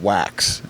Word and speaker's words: Wachs: And today we have Wax and which I did spell your name wrong and it's pronounced W, right?